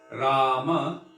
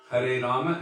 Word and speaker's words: Rama: saying instead of so there's a difference when you say rama with the accent on the bow ah the first a versus the last a the first one according